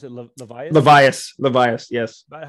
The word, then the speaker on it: Levias: And you described that so well with Jerry, pronounce it Levias? Levias, yes.